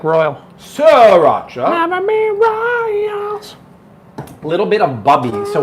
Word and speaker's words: Sriracha: sir should we agree the sri you don't pronounce the first he's like royal siracha little bit of bubbly so what makes this